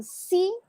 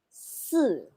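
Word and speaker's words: sì: okay okay remember that if i if a letter i is partner with letter z c and s the pronunciation of i here is so instead of saying see that is su one more time is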